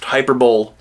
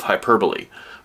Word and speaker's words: hyperbole: that word and think it me it's it's pronounced hyperball uh comedian Brian rean has a special called the epitome of hyperball it's the epitome of hyperbole but words not being pronounced the same way